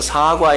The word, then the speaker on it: 사과: 어 사과의 시대 에 정확히 말하면 사과 s 입니다 길게 발음 해야 됩니다 저는 사과 뭐